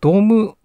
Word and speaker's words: DOM: のはこれですこの dome dome と読みますドームパネルを使い